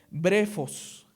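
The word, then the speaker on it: βρέφος: Porque si no hubiese utilizado la palabra griega que se que se pronuncia brefos. brefos es recién nacido.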